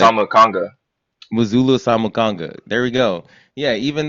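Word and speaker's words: Muzala Samukonga: Muzulu Samukanga.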